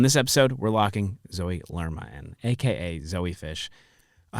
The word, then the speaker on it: Lerma: Yeah, Lerma.